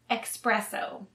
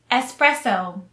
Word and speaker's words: espresso: may be slightly different please note it's espresso not expresso espresso espresso the next drink